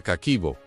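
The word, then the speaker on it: 家計簿: Descubrió que la palabra se pronuncia kaquibo y significa literalmente libro de cuentas del hogar.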